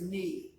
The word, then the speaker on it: ni: First person singular is knee. Like your knee.